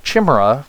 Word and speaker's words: chimera: Reduces the focus cost of your arcane shot by 3, your explosive shot and chimera shot, technically pronounced chimera because of how it's spelled, but I'll let that slide, by 6.